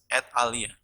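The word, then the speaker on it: et alia: from latin words mean and others they they pronounce it as at alia the sample is like this and then period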